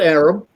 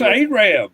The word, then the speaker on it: Arab: It is not Arab. It's It's Arab. Arab. Arab.